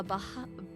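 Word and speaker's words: Bahía: soldiers at presidio la baha baja that's b-a-h-i-a and in spanish you don't pronounce the h's so i'm very confused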